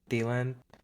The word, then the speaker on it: Thielen: Thielen.